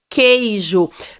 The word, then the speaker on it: queijo: o dígrafo q u queijo perceba que quando eu falo queijo assim como Gueto eu não pronuncio a letra U essas duas letras q e u formam um único som queijo é como se